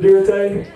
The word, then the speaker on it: Dirte: Actually, I just put an E on the end of it, pronounce it Dirte.